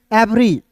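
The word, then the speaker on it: every: ई भी ई आर वाई, इवरी नहीं एवरी, ई को यहाँ पे ए पढ़ते हैं, वी ई आर वाई को पढ़ेंगे दोस्तों।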